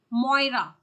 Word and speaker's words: Maurya: name of the lady maurya maurya or if you will see the Irish pronunciation of maurya it is Moira okay the Irish pronunciation of maurya is Moira so more uh there